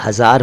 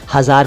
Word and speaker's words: हज़ार: हज़ार को हजार ना कहें, अर्थ आप जानते हैं लेकिन उच्चारण कई लोग लापरवाही में बोलते हैं, हजार कह देते हैं, हज़ार है हज़ार। वीराने में बहार लाया था